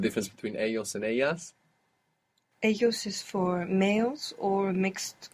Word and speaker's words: ellos: And this L-L in most Spanish dialects makes a Y sound. You might hear ellos around Rio de la Plata in Buenos Aires of Argentina, Montevideo, Uruguay. You might hear like a J kind of sound in Colombia, ellos. But in the great majority of Spanish-speaking world, double L and Y make Y.